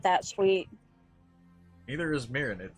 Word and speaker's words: Mirin: for the life of me pronounce your goddamn name nobody ever can it's mirin just call me Mir being in culinary